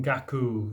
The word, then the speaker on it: 覚: it is Hatchi n gaku the eight truths of a great human being Hachi means eight d means a great human being that is a Buddha and Kaku means oh pronounced here as gaku means an intuitive reflection